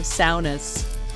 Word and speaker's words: sauna: And thank you for all the saunas. And that's how they pronounce it over there. Sauna.